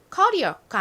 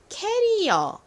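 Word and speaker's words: career: 번 r 요렇게 써요 뒷부분에 강세가 딱 있어요 그래서 커리어가 아니라 커리어 커리어 이렇게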